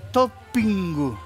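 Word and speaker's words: トッピング: En Japón le decimos toppingu. ¿Cómo? Toppingu, porque no pueden pronunciar topping.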